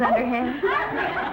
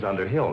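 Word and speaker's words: Underhill: Underhand. Gave me such a fright. Mrs. Underh Hill, not Mrs. underhand.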